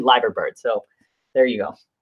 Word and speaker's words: Liver bird: out that we were we were saying it wrong so it's actually lager bird so there you go